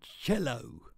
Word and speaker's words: cello: are there on a cello i know it says solo but that's how you say it they tell me